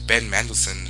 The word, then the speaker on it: Ben Mendelsohn: Ben Mendelsohn, that's how you say his name, great actor.